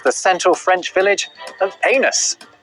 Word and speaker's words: Anus: Next in this race to the bottom, at number 2, it's the central French village of Anus. The locals will tell you it's pronounced Anus, but you don't have to put up with their cheek.